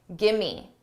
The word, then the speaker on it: gimme: Gimme, gimme, give me a break. Give me sounds like gimme.